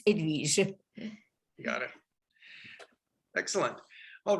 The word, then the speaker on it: Edwige: Edwige. Oh, wonderful. Where are you from? The H is silent. In French, the French people don't know how to pronounce an H. So it's there, but it's Edwige.